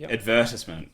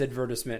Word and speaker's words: advertisement: Advertisement, like there's harassment. You know what's funny? My dad says advertisement, and I'm just like, it's advertisement. It's advertisement. Yeah, for you Commonwealth folks, it is.